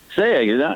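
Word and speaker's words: Sayegh: Saya, not too bad, Eric. Listen, I've been practicing all morning thanks to YouTube. There you go. So listen, it's phonetically pronounced. Say egg. Say the word egg.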